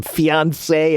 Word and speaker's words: fiancé: So, yeah, Irina, again, those 2 words, those are pronounced the same. Fiancé and fiancé.